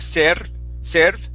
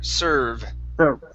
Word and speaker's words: serve: the word serve okay instead of serve it's an er sound sir serve sour good good one